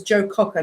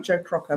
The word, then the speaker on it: Joe Cocker: Okay, it says Joe Cocker, not Joe Crocker. My apologies. I said Crocker, but it was Cockrocker. That's me mispronouncing.